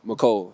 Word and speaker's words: Mecole: Mecole. Mecole, not Mecole. It's Mecole. Yeah, it's Mecole.